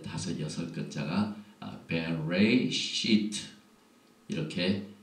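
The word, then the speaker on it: בראשית: 오늘 토라 포션의 제목은 베레시트 이렇게 시작이 되는데 이 글자가 하나, 둘, 셋, 넷, 다섯, 여섯 글자가 베레시트 이렇게 발음을 하고 이 뜻은 in the beginning 태초에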